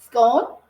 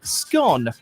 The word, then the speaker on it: scone: language has to be scone or is it scone you'll generally find scone like tone in use in US English but if you were